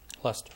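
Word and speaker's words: Leicester: la la la did i say it right lester lester okay uh worked in worcester he's lived in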